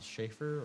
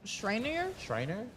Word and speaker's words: Schreiner: It Little looked research I did on this team, they on the Schaefer or Schaefer, is it? How do you say that? Schreiner.